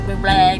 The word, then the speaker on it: Bublé: It was Michael Bublé. You have to say it like that, though. You have to say Bublé because he is.